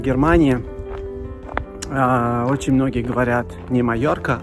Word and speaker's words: Mallorca: Это, конечно же, не Малорка, это Майорка.